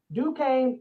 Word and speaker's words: Duquesne: do the quiz how do you say that duquesne okay i always messed that up due came boston college georgia tech louisiana and syracuse fsu